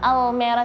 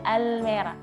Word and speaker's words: Almeera: Jadi nggak Almera tapi Almera. Nanti Lidahnya di belakang dan lidahnya dilebarkan.